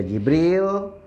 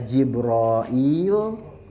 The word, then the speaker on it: Jibril: adalah malaikat Jibril dan Jibril cara pengucapannya itu ada 13 cara mencapai gamenya fotonya Jibril aja ya nggak bisa Jibril bisa jibroil bisa Jaber oil ya bisa jibrin bisa